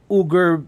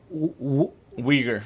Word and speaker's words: Uyghur: this point millions of ugar muslims or i think they're pronounced weaker weaker yeah you're right yeah it has a w sound for whatever reason but